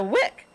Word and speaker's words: Wieck: now and uh without further ado ms victoria wick am i pronouncing your name right absolutely melanie such an